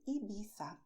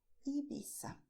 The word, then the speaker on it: Ibiza: And people from the beautiful island Ibiza say Ibiza. But you can also say Ibiza if you prefer.